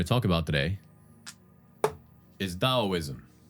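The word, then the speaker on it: Taoism: The first philosophies we're going to talk about today is Daoism. Yes, it is a T. And yes, I am still pronouncing it with a D because that's just how it's said apparently. Dao.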